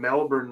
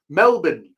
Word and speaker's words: Melbourne: the accent, you know, if you have an Australian accent, the R kind of goes away. But if you're American, you say Melbourne. You don't insult the accent. I go Melbourne.